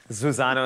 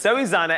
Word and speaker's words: Zoe Zana: I want to say her name correctly, because earlier I knew somebody would shout that, Zuzana or something. No, it's Zoe Zana, and this is our lovely showpiece.